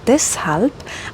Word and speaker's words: deshalb: Ale musí to byť sykavé.